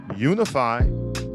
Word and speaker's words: Unifi: to you by commerce say it with me now unify commerce yes guys that is spelled u n i f i commerce dot com guys unifi